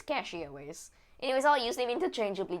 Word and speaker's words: CachyOS: I probably should enable secure boot, but apparently catchy OS is I keep wanting to say catchy OS. I think it's cachy OS.